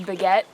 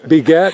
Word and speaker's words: Baguette: and my trail name is Baguette as of yesterday. Begat? Spell that.